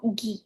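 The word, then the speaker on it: ぎ: Kalau ditambahkan teng-teng di kepalanya ini, bukan ki lagi, tapi dibaca gi.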